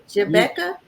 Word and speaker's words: Jabbecca: Is it Jabbecca? Yep, you got it. Like Okay. Rebecca, but with a J.